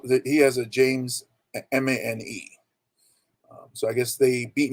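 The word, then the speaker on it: Mané: favorite soccer players um sadio mane it's pronounced mani the other one i'm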